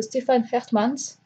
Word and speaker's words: Stefan Hertmans: Le cœur converti de Stefan Hertmans, donc ça se prononce comme ça.